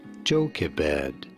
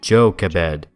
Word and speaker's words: Jochebed: How do you go about pronouncing her name? Jochebed. Jochebed.